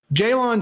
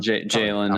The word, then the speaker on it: Jaylon: him I'm biased but Jaylon Smith is that how you say it Jalen Jalen I think I think it's just Jalen Smith he in the first